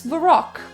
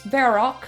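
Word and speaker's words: Varrock: And just to make sure, yep, I am definitely in the right place because you see, I break it down as the rock as in a rock.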